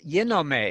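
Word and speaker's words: γίνομαι: Yinome is the Greek verb for, and I'm using the modern Greek pronunciation because we do that, and they're doing it at Harvard, by the way, so we're pleased to do it following their example.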